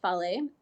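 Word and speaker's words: fale: you called this yeah these are called Follies it's about FA le and pronounced folly and Follies are they're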